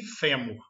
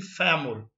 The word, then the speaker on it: fêmur: Aqui no Brasil nós falamos sêmen e fêmur. Lá eles falam mais aberto, sêmen e fêmur.